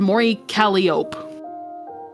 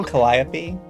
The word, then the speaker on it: Mori Calliope: the YouTubers and they named and they said Mory Calop. Yeah, they could not pronounce her name. I'm just like at that. Aren't you supposed to say it collap?